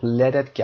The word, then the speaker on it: lead: برای دوستان که فایل صوتی گوش میکنن L-E-A-D lead تلفظ میشه به معنای سرب، فلز سرب.